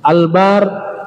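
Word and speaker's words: البَرّ: kalau Marga Albar Bakti bentuk fail Albar huruf bnya panjang ya Albar orang yang berbakti Albar pendek huruf banyak daratan albir perbuatan baik albur gandum semua hurufnya sama hanya cara bacanya ada sedikit berbeda ya Nah ternyata kebajikan itu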